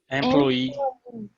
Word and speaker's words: employee: going to edit this employee if you don't emphasize the end of it you can confuse with employee employee employer okay like carol works